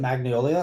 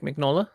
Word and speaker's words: Mignola: like Magnolia art is is it Magnolia how do you pronounce it Mike mignola yeah yeah he very specialized style